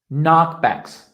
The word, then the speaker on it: knockbacks: guys faced with overcome knockbacks in english always when there's a k and an n the k you never pronounce there's a tip for